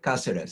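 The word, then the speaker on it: Cáceres: And is your name properly pronounced Caceres? Yes. The accent on the first syllable, is that right? Yep. Okay, Caceres.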